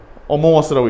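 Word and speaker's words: Among Us: 이거 뭐라고 읽어요? 어몽어스라고 읽죠. 요즘 게임 나오죠, 어몽어스.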